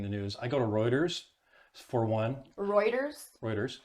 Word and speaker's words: Reuters: So where I go when I'm at work and I'm reading the news, I go to Reuters for one. Reuters? How do you spell that?